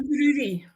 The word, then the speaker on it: Inverurie: Inverurie. Inverurie. Inverurie. Inverurie. Inverurie. Kind of sounds like I live in a brewery.